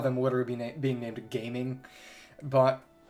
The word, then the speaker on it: Gaming: literally be being named gaming but the Mandarin Reading of the characters in his name is more like jaming but the cantones pronunciation is gaming so they use that